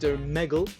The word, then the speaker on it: Omegle: And before you cringe at my pronunciation, it is in fact Omegle.